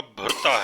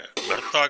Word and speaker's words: भरता: भरता कहते हैं या भुरता कहते हैं, मुख्तलिफ प्रोनाउंसिएशन में इसको मुख्तलिफ कहा जाता है। वैसे लिखते तो भरता है, भुरता भी कहते हैं, भरता भी कहते हैं इंडिया में, क्योंकि बहुत सारे इलाके